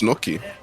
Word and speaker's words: gnocchi: like my luck today, and made myself some gnocchis, which was also like really nice food. Okay. I do love gnocchi. It's one of my favorite foods, so I wasn't too What's mad. what's gnocchi?